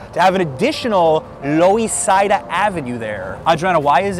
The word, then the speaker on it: Loisaida: And a friend of us explained they used to be for Lower East Side, but the locals were pronouncing it really fast, Lower East Side, Lower East Side. So suddenly it became Loisaida.